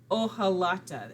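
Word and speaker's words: hojalata: me it's called a ohalata h is silent this is inspired by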